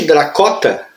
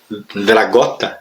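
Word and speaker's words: Dragotta: E logo na abertura há uma matéria aqui, ó, que foi escrita pelo Nick Dracota, Dragota, na verdade, em que ele fala exatamente isso.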